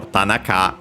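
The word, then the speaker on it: 田中: For example, here we have the examples here uh for Tanaka which is unacented uh very common Japanese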